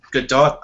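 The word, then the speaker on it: Gadot: as Wonder Woman uh I'm pretty sure it's good dot I think I heard her say it in an interview once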